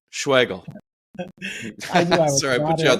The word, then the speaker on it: Schwagerl: Schwartzel? Oh my goodness, that's way off, Marty. No, it's Schwagerl. It's Schwagerl. We practiced this. Yeah. The R is silent. Schwagerl.